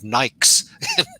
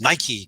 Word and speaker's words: Nike: everybody pronounced it like mike and i remember they ran a few ad campaigns on on how to pronounce it you know it's nike it was like greek for victory or something like that and it was just